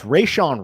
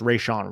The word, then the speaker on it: Rejzohn: Yeah, so it's Rayshawn Wright, but it's spelled Rejzohn. But I believe the pronunciation is just Rayshawn Wright.